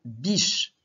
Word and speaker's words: biche: Tu écris maintenant le mot biche. Pause. Biche, ça s'écrit B.